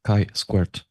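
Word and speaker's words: chi-squared: and by the way it's Kai squirt Kai squir That's how you pronounce it okay thank you very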